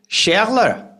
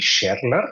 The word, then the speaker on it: Scherler: you pronounce it properly my proper pronunciation would be shler which is pretty close what you did um I'm originally from